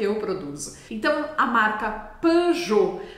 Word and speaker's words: Peugeot: então a marca pejot a gente percebe então que o som e pode ser escrito só a letra e em francês sem acento ou então e com u é o mesmo som e p e aqui na marca pe a gente não vai falar o t no final vamos sair da marca